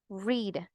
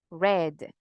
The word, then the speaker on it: read: In infinitive, read. Simple past, read. Read.